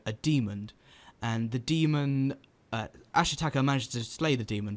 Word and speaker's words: Ashitaka: So the plot of the film is a young boy called Ashitaka. Am I saying it right? Yes. Yeah. Yes. Yep. Got that one. Ashitaka, who comes from a village in the east